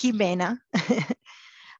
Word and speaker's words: Jimena: I'm sorry if I pronounce it wrong. Don't worry. It's Jimena.